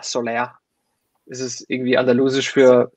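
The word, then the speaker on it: Soleá: Ja, der hat einen Akzent auf dem A, Soler. Ist es irgendwie andalusisch für Sonne? Soler, ja, genau. Soler.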